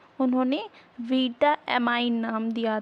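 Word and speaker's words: vitamine: के लिए उपयोगी अमीनो ग्रुप को ही उन्होंने बीटामाइन नाम दिया था स्टार्टिंग में जो स्पेलिंग जो है रखी थी वैज्ञानिकों ने विटामिन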